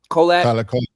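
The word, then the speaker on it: Kolek: Kolak.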